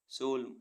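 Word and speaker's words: solemn: बदुआ देना एस ओ एल ई एम एन सोलम सोलम means गंभीर ऐसे बर्ड्स जिनमें पी साइलेंट रहता है पी एस वाई सी एच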